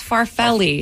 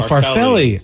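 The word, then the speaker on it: farfalle: rally for Valley finally how we say it again I said it right yeah it's farrelli it's farfelli oh farfelli yeah ah son of a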